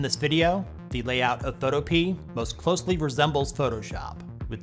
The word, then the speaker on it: Photopea: Some people mispronounce it as Photopea, but the developer says it's actually pronounced Photopea.